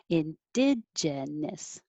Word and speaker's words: indigenous: I should actually be saying gen instead of gin. That's my own accent. Indigenous.